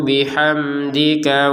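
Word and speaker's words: بِحَمْدِكَ: Wahnu nusabbihu bihamdika wa nuqaddisak. Huruf mim sukun di sini kita baca dengan jelas. Bihamdika. Jangan sampai ada samar. Bihamdzi.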